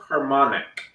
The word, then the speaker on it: Harmonic: Harmonic or harmonics? Harmonic. Oh, just harmonic. So I messed up. Landfill Harmonic without the S. Just forget that there's an S. The S doesn't exist. The S is silent.